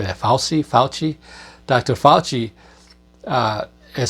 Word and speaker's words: Fauci: Fauci.